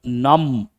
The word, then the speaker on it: numb: Please write the word numb. B is silent.